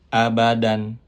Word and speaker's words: abadan: Contoh di sini abadan fathatain dan kita berhenti atau qaf di situ, cara membacanya menjadi seperti fathah diikuti alif. Abada dan dipanjangkan 2 harokat. Selagi kita ulangi abadan, kita berhenti di situ menjadi abada.